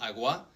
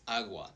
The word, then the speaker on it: agua: Awa for example it's not aua it's aua.